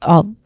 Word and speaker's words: of: Of here is, it is pronounced with the letter V at the end. So of.